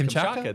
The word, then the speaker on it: Kamchatka: We are going to Russia, and I don't even know if I'm going to try to pronounce that. Kamchatka, Russia. Jamie, Kamchatka, yeah. It's Kamchatka.